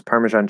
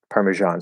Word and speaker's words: Parmesan: And then how do you pronounce Parmesan cheese? Like that. Parmesan. So that's actually, yeah, that's one that has the j sound.